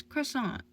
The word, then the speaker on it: croissant: pastries for Romo would know that the tea is silent are you implying I